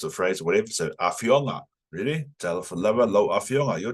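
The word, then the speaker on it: afioga: Talafalava lo afionga. Your turn. Talafalava lo afionga. Yeah. And over here, it's generally the second to last syllable that's emphasized.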